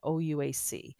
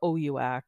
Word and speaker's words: OUAC: When you apply to university, you need a PIN to create your account on OUAC or OUAC, or you'll hear it pronounced a few different ways.